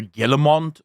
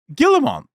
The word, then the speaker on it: Guillemot: It is just, at this point, so those of you that don't know, there is currently massive talks between the Guillemot brothers, the founders of Ubisoft.